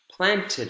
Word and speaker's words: planted: Planned, planned a garden, planted, planted a garden. Planned, one syllable, planted, two syllables.